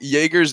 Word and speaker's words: Jaeger: Then we have Jaeger, like the drink for the pronunciation.